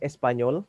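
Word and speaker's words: Español: sebenarnya Espanyol para Indonesia jadi bacanya Espanyol ini kayak Spanyol senyum para indonesios artinya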